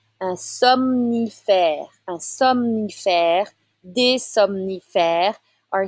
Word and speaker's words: somnifère: Un somnifère. So you need to say both the M and N right after the other. Un somnifère.